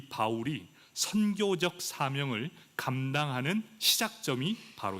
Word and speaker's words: 바울: 사울, 그 이름을 히브리어로 말하면 사울이 됩니다. 그리고 헬라어로 발음하면 바울이 됩니다.